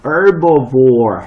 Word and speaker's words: herbivore: 요거 알아둬야 되고, herbivore 할 때, 자, 요게 H 발음이 들어가면 유럽 쪽 발음이고, H가 빠지면 미국 쪽 발음이야.